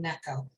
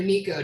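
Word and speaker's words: NECO: zukowski and myself are from necco or nico depending on how you pronounce it so what else is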